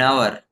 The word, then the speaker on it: hour: Example an hour. Here h is silent a university.